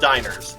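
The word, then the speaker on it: Diener: It's d i e n e r. So like wiener but with a with a d instead of a w or or no.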